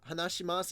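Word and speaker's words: 話します: correct but hanashi mas there's a you at the end of hanashi mas it's technically Hunnish my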